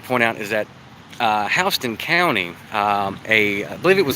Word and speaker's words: Houston: In Georgia, it's pronounced Houston, and in Texas, it's Houston.